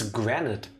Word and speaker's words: granite: It's granite, no? As in I say granite. rhymes with granted.